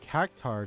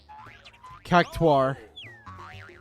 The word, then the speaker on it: Cactuar: A Cactar doll. Or as they pronounce it in the, oh? Random cutscene? Oh, it's a Cactar. They pronounce it in 587 Rebirth. Cactuar. It's a cactuar. I've always said cactar.